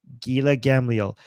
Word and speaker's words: Gila Gamliel: I always Gila mispronounce her Gila name. Gamliel. Gila Gamliel.